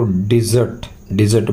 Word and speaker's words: dessert: इसके अंदर आर का प्रोनाउंस नहीं होता, इसलिए इसको डिजर्ट बोलते हैं, खाने के बाद ली जाने वाली मिठाई।